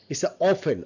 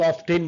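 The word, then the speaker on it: often: সফেন right সফেন সফেন অফেন অনেকে অফটেন বলে নট অফ অফেন অফেন অফেন silent এটাকে বলে সাউন্ড যেমন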